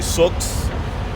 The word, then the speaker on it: Sioux: I always say Sioux, but I guess the I and X is silent, so I'm gonna say Sioux Falls, North Dakota.